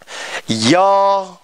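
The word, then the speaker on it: ㅛ: Yo.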